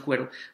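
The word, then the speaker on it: quaero: yo creo que pues yo lo pronuncio cuero cuero Qué significa Buscar de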